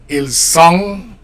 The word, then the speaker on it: ils sont: Ils sont. You don't pronounce consonants, okay?